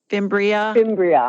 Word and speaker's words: fimbria: Number two, pronounce it again for me, Chris. Fimbria.